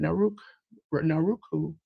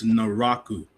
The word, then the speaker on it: Naraku: Naruk, I can never pronounce the name. Naruku. J News, help me out. It's Naraku. Naraku.